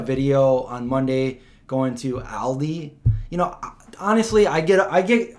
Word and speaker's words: Aldi: to say all right I used to say all these and at least I corrected that I call it Aldi not all these you know kind of